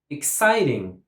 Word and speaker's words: exciting: Exciting. Exciting. Exciting. 3 syllables and the stress goes on the second syllable.